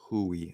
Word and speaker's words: Hue: It is pronounced Hue, but Hui.